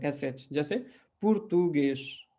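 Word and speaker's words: português: पुर्तुगेश, Francis, English, ठीक है, false. तो ये सब जो है एस पे खत्म हो रहे हैं, लेकिन हम इसका उच्चारण कैसे कर रहे हैं, एस एच पे, ठीक है।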